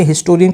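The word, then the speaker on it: historian: तो यहां पे हिस्टोरियन की जो साउंड है जो प्रोनंसिएशन है ये है कंसोनेंट की।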